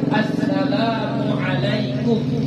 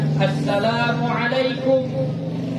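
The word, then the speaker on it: السلام عليكم: benar adalah ya Assalamualaikum ya Asalamualaikum Asalamualaikum Jadi bukan asalamualaikum Ya kayak gitu Asalamualaikum itu salah itu lafaz yang salah engak ada pahalanya mungkin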